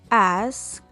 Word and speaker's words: asked: Muy bien, cuando tengo un sonido sordo, utilizo la letra T para pronunciar ed.